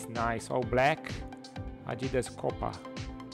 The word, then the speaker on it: Copa: Adidas Copa, or Copa, that would be the right pronunciation, Copa.